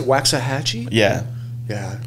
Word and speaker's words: Waxahachie: Waxahachie?